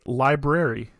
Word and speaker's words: library: first library okay uh we'll say library that is correct unlike many people who say library library library is so hard to say that merriam webster can cite files where even college presidents and professors use the dis dissimulated form we almost blew ourselves